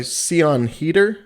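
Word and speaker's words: Siân Heder: it is directed by ceon heater i believe is how you pronounce the director's name and she directed a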